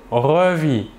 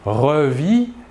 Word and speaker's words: revit: Je revis, tu revis, il ou elle ou on revit. Toujours la même chose, le S et le T final de la terminaison ne se prononcent pas mais s'écrivent.